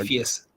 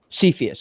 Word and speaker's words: Cepheus: Cepheus. Cepheus. Okay. Cepheus.